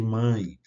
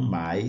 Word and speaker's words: mãe: é o caso de Mãe por exemplo que se não tivesse ozinho aqui a gente teria que ler ou falar ma né pão a gente teria que falar pau e capitã a gente teria que falar capitã mas a presença do c na escrita indica que esse som é nazal OK então é mãe pão e capitã né não Mai não pau não capt ok o